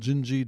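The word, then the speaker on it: Dindi: He has a great song called Wave, and then he has a song called Gingi, D-I-N-D-I, it's spelled. I think that's Portuguese, Gingi.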